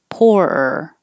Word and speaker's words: poorer: noise er poorer poorer you have to have a break poor er if not it'll just sound like poor so you need to make poorer with the keep your tongue in that position but stop the voice and start the voice poorer weirder weirder lots